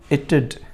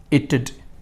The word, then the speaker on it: it'd: आइड, you'd, you'd, he'd, she'd, it'd। है ना funny? कैसे पढ़ना है इसे? ई, टू और डो, it'd।